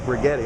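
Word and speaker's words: Righetti: His grandma's name is literally like rigetti, like spaghetti.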